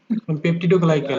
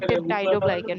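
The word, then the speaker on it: peptidoglycan: পেপটিডোগ্লাইকেন। পেপটিডোগ্লাইকেন। এটা হচ্ছে এটার উচ্চারণ হলো পজিটিভ পেপটাইডোগ্লাইকেন। এটার উচ্চারণ হলো পেপটাইডোগ্লাইকেন, ওকে?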